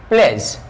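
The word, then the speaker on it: pledge: नहीं होता है, तो इसको हम लोग पढ़ेंगे प्लेस, डी को साइलेंट, प्लेस।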